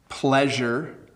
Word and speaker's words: pleasure: So we have pleasure and pressure. I said that kind of funny. Pleasure with an L sound, pleasure and pressure. So just the beginning of the word is a little bit different.